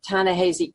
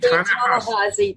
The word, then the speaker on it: Ta-Nehisi: Now, of course, you know, people on the left, like Ta-Nehisi Coates, whose name I always mispronounce. Ta-Nehisi.